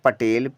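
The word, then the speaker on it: Patel: ए टी ई एल पढ़ेंगे पटेल पी से प लिया ए साइलेंट टी से ट लिया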